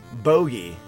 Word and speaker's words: bogey: Bogey. Is it boogie or... It is bogey.